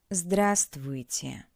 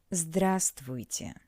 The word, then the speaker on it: Здравствуйте: Здравствуйте. Здравствуйте. Remember that in this word we don't pronounce the letter V. Здравствуйте.